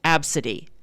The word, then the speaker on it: Abcde: it her name is spelled ABCDE in it's pronounced AB City and so the the apparently the the ticket